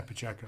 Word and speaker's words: Pacheco: Yeah, Pacheco.